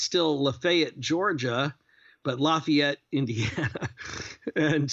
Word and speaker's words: Lafayette: Tennessee but there's a lafette and you can either pronounce it lafette or Lafayette it's Lafayette I I had I